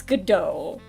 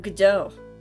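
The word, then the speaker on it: Godot: so I think it's gdau the t is silent he's also French everyone here is French I'm gdau Legend AR prosecutor I've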